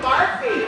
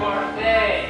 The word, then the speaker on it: Barfy: William Barfy. It's pronounced Barfay. There's an accent, they do.